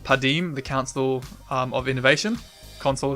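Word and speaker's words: Padeem: Things like, I think it's pronounced Padim, the Council of Innovation, Console of Innovation, sorry.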